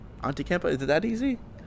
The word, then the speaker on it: Antetokounmpo: How do you pronounce his last name, Greg? It's like Antetokounmpo. Antetokounmpo.